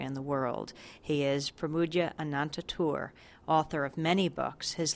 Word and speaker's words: Pramoedya Ananta Toer: And you pronounce it Pramoedya Ananta Toer? Pramoedya Ananta Toer.